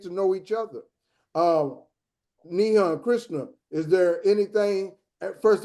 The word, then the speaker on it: Nihan: Um Nihan Krishna is there anything first of all am I pronouncing your first name correctly? Yes. Nihan arrive Krishna. Okay. Like arrive like Nihan has arrived.